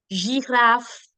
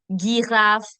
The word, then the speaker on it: girafe: So, génial, gymnastique, gérant, girafe, géant, génération. These are the soft sounds. It will never be genial, gymnastique, girafe, génération. No, never. Why? Because the alphabet G is been followed by E, I, and Y. And when that happens, I get the je sound.